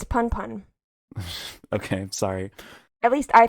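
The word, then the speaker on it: Punpun: the case with this Poon Poon book that you're talking about. Is it Poon Poon or Pun Pun? It's Pun Pun.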